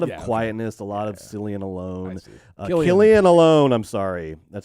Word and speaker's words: Cillian: Their name Cillian, hard C. And the hard C is so much cooler than the soft C. Cillian.